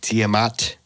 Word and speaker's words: Tiamat: existing water planet called tiamat i don't know it's actually pronounced yeah t-i-a-m-a-t and they were uh